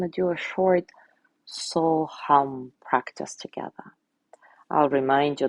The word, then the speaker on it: hum: As you exhale silently, say hum, H-U-M.